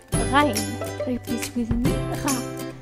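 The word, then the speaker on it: غ: The letter Ghain. Repeat with me, Gha. The sound of this letter is very similar to the R of the French, like un bonjour, bonsoir.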